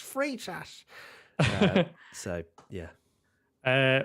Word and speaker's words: Freitas: and everyone's like oh it's not free of fright ass it's free sash so yeah uh right